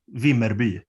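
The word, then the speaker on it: Vimmerby: in now yeah yeah yeah it's called yeah v merby okay could you spell it for me i'll never be able to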